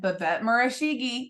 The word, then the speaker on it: Babette Murishage: name correctly I know I'm gonna do it B bet marigi I nailed it didn't I did I nail